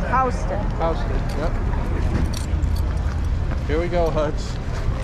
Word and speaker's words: Houston: you don't pronounce it pronounce it houston it's pronounced houston yep here we go huds we're walking okay